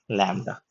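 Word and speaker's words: lambda: इसका उच्चारण है ल का। ठीक है? ल। मेरा हिंदी माफ करिएगा। अगर मैं हिंदी जो आपका अल्फाबेट है उसको मैं गलत लिख रहा हूं तो बट यह उच्चारण ल का होगा। इंग्लिश में एल का उच्चारण होगा। जैसे कि लैंब में लैंब में जो एल का उच्चारण होता है वो है लैम्ब्डा।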